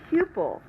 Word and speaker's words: pupil: Also the word pupil. The first syllable is the accented syllable. A pupil could be like the